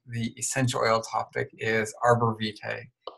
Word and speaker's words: Arborvitae: out everybody tonight the essential oil topic is Arbor Vite it's that's how it's pronounced it's hard to spell for those of